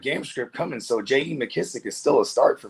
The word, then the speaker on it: McKissic: It's funny because I'm I was like, have I been saying his name wrong the whole time? I'm like, is it McKenzie? I'm like, oh no, McKissic. I'm calling him McKenzie sounded cooler.